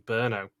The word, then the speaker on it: Brno: into some very very special hotel rooms in brno and i must admit it really annoyed me rick couldn't say burno properly because i had to look this up